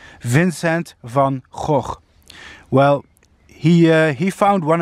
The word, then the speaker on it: Vincent van Gogh: famous painter Vincent fauxhawk yes I'm a Dutch guy so I can pronounce that name correctly Vincent van Gogh well he he found